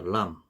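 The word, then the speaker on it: لام: 그리고 요 람은 영어의 L과 같습니다. 그래서 혀에 힘을 주고 윗니 잇몸에 이렇게 닿으면서 나는 소리입니다. 람, 람.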